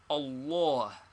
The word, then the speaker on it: Allah: how is Allah pronounced the middle feta is very Broad and is pronounced like all in awful and this reacts upon the first fat cat also so we must practice saying Allah though we still transliterate